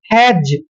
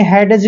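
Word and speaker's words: hedge: नहीं है एज जैसे हैज देखिए एच का उच्चारण है करते हैं ए को ए की मात्रा पढ़ते हैं और डी का उच्चारण हमने नहीं करना है क्योंकि जी से पहले डी आया है इसलिए जी ई का उच्चारण ज करेंगे हैज आपने हैडज नहीं पढ़ना है हैज पढ़ना है जैसे डब्लू ई डी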